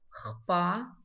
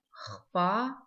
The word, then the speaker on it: хпа: Звук «х» здесь читается тверже, чем в русском языке.